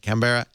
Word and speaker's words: Canberra: When I asked him, he said it Canberra Grammar because it's Canberra. You don't say the syllables. Like Melbourne is Melbourne. Melbourne.